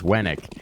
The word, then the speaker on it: Wenik: Winnick versus Wennick.